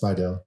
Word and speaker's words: Spidell: So I usually say it's Spidell, like the town Slidell. That helps people. Was that how it's pronounced, or like? Yeah, it's Spidell.